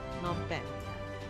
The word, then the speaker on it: Phnom Penh: Phnom Penh. Yeah. So we'll be sure. And yesterday we were also trying very hard to pronounce all of the names properly, especially with Vichet.